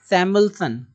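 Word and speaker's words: Samuelson: सैमुअल्सन, सैमुअल्सन कैसे पढ़ेंगे? कैसे हम से सैम उल, UL से उल, यहाँ पे ई साइलेंट है, और यस से सन, आधा आधा काट करके पढ़ेंगे।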